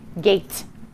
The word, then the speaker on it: gate: we'll write a t right now my word says gat i need to remember to put in my silent e and i write it small in the corner to show that it doesn't get to talk and now i have the word gate now i'm going to